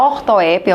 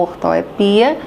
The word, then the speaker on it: ortoepia: E no plano da fala, a pronúncia, sim, a ortoepia, tem a ortografia, tem a ortoépia ou ortoepia, que é orto é correto.